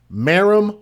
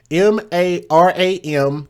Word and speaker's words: Maram: Her name is Maram Wajib Sada. And it's spelled M-A-R-A-M.